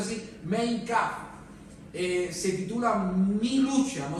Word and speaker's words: Mein Kampf: Adolf Hitler, por ejemplo, en un libro que en su idioma se pronuncia así, Mein Kampf, se titula Mi lucha.